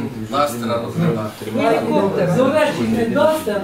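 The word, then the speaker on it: Duster: Зовсім не Дастер, а Дустер. Дустер, пишеться Дустер. А читається Дастер, хто знає на землю. Ні, так і читається, там по-німецьки. То теж не Дустер, там по-німецьки.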